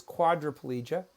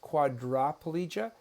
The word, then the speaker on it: quadriplegia: The blue circle is quadriplegia. One thing I'll point out to you is that it's pronounced quadriplegia, but it looks like quadriplegia.